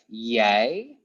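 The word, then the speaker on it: jij: ake then we have yay or you that means you when you say something to the person okay then we have hi hi it means e hi we have J yeah it's pronounced yeah yay or yeah you can use them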